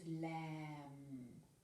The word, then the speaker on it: lamb: This is lamb. We don't say lamb. If it had a P, it would be lamp. But this is lamb with a silent B.